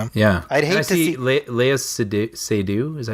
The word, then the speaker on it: Léa Seydoux: I'd hate to see Léa Seydoux.